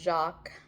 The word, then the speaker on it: Jacques: I think his first name is pronounced Jacques. It looks like you know like how you pronounce Jacqu Kusto.